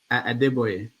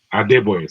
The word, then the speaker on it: Adebayo: I forget how you pronounce his name. Adebayo. Adebayo, thank you.